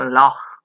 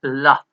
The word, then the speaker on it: laugh: si ustedes ven, laughed, aunque el verbo love termine en GH, no se pronuncia log, no es log con GH. Siempre que tengan una GH al final de una palabra, esto va a sonar como una F. Aquí no es log, es love, como una F.